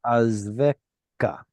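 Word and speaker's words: יַעַזְבֶךָּ: Okay, it's not cha. See that dagesh? It's ya'azveka.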